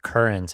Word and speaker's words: QRNT: It's pronounced current, and I spelled it out QRNT, and it's pronounced current.